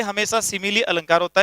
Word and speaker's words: simile: इसका उच्चारण आपको बहुत ध्यान से बोलना है, सिमिली।